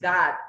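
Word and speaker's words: Gad: God, it's not God, okay, it's God. I don't know how do you pronounce G-A-D.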